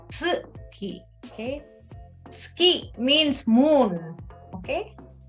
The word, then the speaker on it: 月: Okay, it's not suki, it's tsuki.